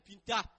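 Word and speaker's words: Ptah: Alors que celui qui était considéré comme le Dieu au-dessus de tous les dieux d'Égypte, il s'appelle Pinta. C'est-à-dire, ça s'écrit P-T-A-H.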